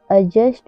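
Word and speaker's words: adjust: जी आया हुआ है रूल नंबर टू जब किसी शब्द में डी के बाद जे आए तो डी साइलेंट रहता है जैसे एडजेक्टिव एडजेक्टिव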